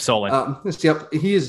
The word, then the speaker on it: Solon: Yep, Solon.